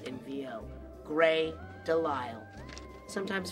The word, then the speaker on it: DeLisle: Gray Delisle. Sometimes pronounced Delisle.